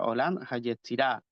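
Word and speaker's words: עולם היצירה: En hebreo se pronuncia Olam HaYetzirah.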